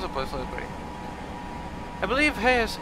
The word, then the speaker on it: Hayes: to agree I believe Hayes is pronounced without the e so it's like Grace but with age I also Haze okay relatively perfect yeah